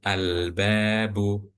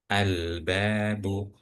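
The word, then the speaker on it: الباب: Oke, bisa dilihat bahwa contoh albabu. Nah, di situ di huruf lamnya alif lamnya di huruf lamnya itu ada sukun. Nah, itu menunjukkan bahwa lamnya harus dibaca albabu.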